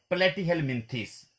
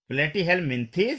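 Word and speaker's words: Platyhelminthes: वो अगला ग्रुप है प्लेटिहेलमिन्थेस। अब ये जो प्लेटिहेलमिन्थेस होते हैं, ये क्या होते हैं, प्लेटिहेलमिन्थेस या प्लेटिहेलमिन्थ्स, आप ऐसे भी बोल सकते हैं।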